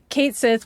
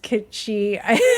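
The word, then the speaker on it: Cait Sith: I mean, even when like Kate Sith, which I I guess that's actually pronounced Kitschi.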